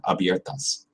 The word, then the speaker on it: abiertas: Notice I messed up the abiertas pronunciation before. I said a little too American. It's like a flat A, a lazy A. It's got to be that strong Spanish pronunciation.